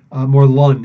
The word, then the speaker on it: Morlun: Morlun is actually the proper pronunciation, apparently.